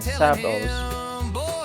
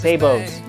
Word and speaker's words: sabot: a video has been floating around showing 3D printed savos savos? sabits? (unable to pronounce s***) SABOTS!